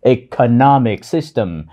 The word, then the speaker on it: economic: "Economic" là một từ có bốn âm tiết. Trọng âm rơi vào âm tiết thứ ba.